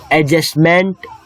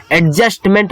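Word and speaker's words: adjustment: एडजस्टमेंट मत कहना, क्योंकि ए और जे के बीच जब डी आता है तो वो साइलेंट हो जाता है। तो एडजस्ट करना, कहीं एडजस्ट मत बोलना, एडजस्ट करना।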